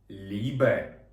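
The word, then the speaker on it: Liebe: випадку це букво сполучення просто читається як довга і і до прикладу любов лібе Також ми маємо артикль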